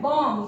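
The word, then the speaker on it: bomb: फिर वर्ड आता है बॉम्ब, B-O-M-B, बॉम्ब।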